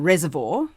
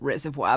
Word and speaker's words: Reservoir: We lived in Reservoir, which some people, my mother tries to tell me you pronounce it reservoir, but if you live in Reservoir, it's Reservoir. And I went to Preston Primary School.